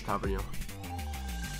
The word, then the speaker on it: Tavernier: Mind when Tav joined, everyone was like, oh, it's James Tavernier, and everyone was like struggling to say his name, and then he just came out saying it's Tavernier. It's Tavernier, mate.